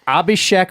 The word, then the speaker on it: Abhishek: me see what the screen handle is it's Abhishek wait it's here I'll spell it a b h i s h e k underscore Royal underscore 100.